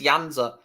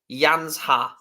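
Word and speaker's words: Janža: fan slovenians telling me how to pronounce yanza it's yansa cheers jro mate thanks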